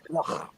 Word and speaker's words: Loughborough: That's Loughborough. Liz It's got it right. Loughborough. The GH is pronounced a K. It's called Loughborough.